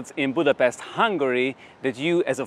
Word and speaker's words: Budapest: Sports of Budapest or as we hungarians pronounce it Budapest first on my list